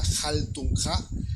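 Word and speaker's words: Haltunha: En Facebook estamos como Quinta Jaltunja. Jaltunja se escribe H-A-L-T-U-N-H-A, Jaltunja.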